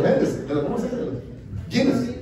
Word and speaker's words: Guinness: Guinness. Guinness, ajá.